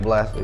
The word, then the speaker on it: Bla$ta: Is Blaster right? Am I saying it right? Blaster, yeah.